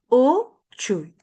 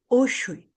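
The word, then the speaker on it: uchuy: U chuy y no es usui.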